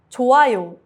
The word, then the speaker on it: 좋아요: 좋아요 is good. The hyut is silent before a vowel.